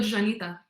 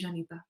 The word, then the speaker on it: Llanita: Well, I think the word Janita, because that is like our slang for Gibraltarian.